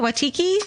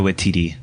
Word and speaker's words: Waititi: And is it Watiki? I don't know how to pronounce that guy's name. I panic when I see it Steven on the knows. page. Taika Waititi.